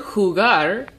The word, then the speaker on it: jugar: role now let's try the word jugar I'll repeat it again who got the word who got is Agatha because the emphasis is on the last syllable I'll say it one